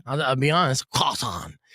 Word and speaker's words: croissant: It's often pronounced croissant. But no, it's quason. I know. It's tough. It's It's an awesome name to say. I I'll be honest. Quasan.